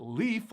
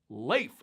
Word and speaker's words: Leif: It's not Leaf like we find on trees. It's supposed to be pronounced Leif, like L-A-L-A-Y-F, Leif instead of Leaf, but this is America, we say Leaf.